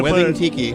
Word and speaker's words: Wething Tiki: Please pronounce it correctly. It's Wedding Tiki.